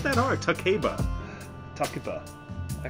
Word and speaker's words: Takeba: names, at least the American voice actors could pronounce them the proper way. You purist. Yukari, it's not that hard. Takeba.